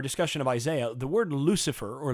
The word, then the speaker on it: Lucifer: of isaiah the word lucifer or lucky fair is actually how it's pronounced in latin is a is a